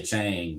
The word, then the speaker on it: Chang: I usually drink the Chang or Chong. They call it it's supposed it's supposed to be pronounced Chong. Chong. Always say Chang just because it Yeah, we'll have the Chang.